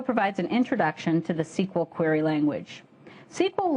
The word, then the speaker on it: SQL: Is it SQL or is it SQL? My friends in industry tell me that SQL is the in pronunciation, so that's the one I'll be using.